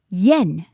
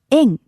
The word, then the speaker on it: 円: Now, the Japanese currency is pronounced yen in English, but in Japanese, we actually call it the en. It's much lighter sounding, like many words in Japanese.